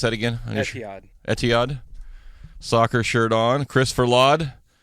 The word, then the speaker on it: Etihad: He's got his mixed bag of Boston Red Sox and how do you pronounce that again? Etihad.